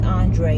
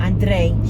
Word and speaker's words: Andrei: And I'm not going to roll my R when I say his name like Libby does. His name is Andrei. It's not Andrei. I hate when she says that. That's not his name.